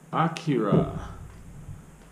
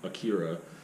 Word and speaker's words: Akira: a lot of people is just akira and i might say that by accident but i think i should be pronouncing it acura but whatever so um